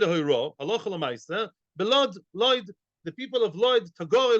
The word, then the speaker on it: Lod: Belod, Lod, the people of Lod, Tagore Lod, the famous Tagore Lod, the merchants of Lod, they say Lud, but in proper Hebrew say Lod, by the way.